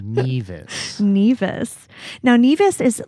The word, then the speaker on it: Nevis: one of us like knew what neas was or that it was even pronounced neas because you've been calling it nevas for like you know as long as you've known about it and um yeah I